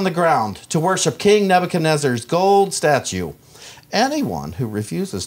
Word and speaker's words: Nebuchadnezzar: Daniel 3 says, King Nebuchadnezzar, did I pronounce that right, John?